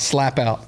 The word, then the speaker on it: Slapout: I'm from a town called Slap Out, Alabama. We live about 35 Okay. minutes outside of Montgomery. What's it It's called? Slap Out. Slap Out? Slapout. Oh, it's spelled like it sounds.